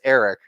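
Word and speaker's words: Aric: I've mispronounced it for so long. I'm used to saying Arik, but I tried to change it so it's Eric.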